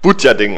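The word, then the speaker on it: Butjadingen: die 26969 äh ja es wird budjaading ausgesprochen ah budja Ding genau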